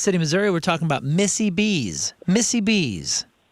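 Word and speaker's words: Missie B's: Over in Kansas City, Missouri, we're talking about Missy B's. Missy B's. Now, spell that.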